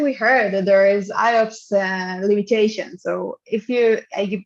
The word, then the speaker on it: IOPS: to operation it's basically operation per second and pronounced iops is an input output performance measurement we want